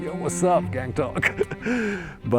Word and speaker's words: Gangtok: This town has such a cool name, Gangtok. It sounds like a rapper's name. Yo, what's up, Gangtok? But, uh it's actually pronounced Gungtok.